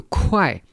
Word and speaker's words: 块: Le kwai, bien faire un K expiré pour ne pas qu'il soit confondu avec un G quand vous parlez.